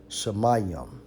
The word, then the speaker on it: shamayim: on heavens in the Hebrew Strong's h80 64 pronounces shamaya shamayim heaven heavens sky now remember definition for sky